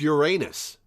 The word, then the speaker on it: Uranus: your male symbol that's the urinal symbol it's pronounced Uranus jinpay looked over to see Ace examining the